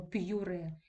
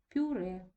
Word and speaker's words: пюре: і передає роздільну вимову слово пюре ми з вами відчуваємо роздільною вимови й у нас з вами не відчувається в мене вимовляємо пюре як в слові П'єр тут у нас з вами вимовляється просто пом'якшений і звук у пюре Гольфстрім за правилом стосовно